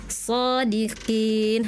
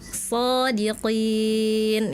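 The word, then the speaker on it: صادقين: tadi Kak Nadifa contohnya di surah Al-Qalam ayat 41 kakak bacanya shodiqin harusnya Kak shodiqin ya.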